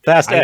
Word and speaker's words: Fast X: Fast X.